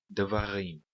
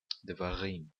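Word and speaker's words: דברים: Note também aqui que, como o sheva aqui é o primeiro sheva, ele é um sheva vocal, esse sheva também é contado como se fosse uma vogal. Então, a primeira sílaba é dalet sheva.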